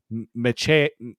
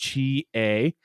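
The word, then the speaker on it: Metchie: They got two guys in the back there in Amos and Meche. Oh, on Royce Mechie. Yes. Mechie. That's now how he wants to be pronounced.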